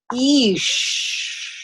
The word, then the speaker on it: Ix: The Path of Ish. It's like when you're walking on a path and you're like, Ish. This is not easy. You're in a forest. Kind of like that, but it's spelled I-X.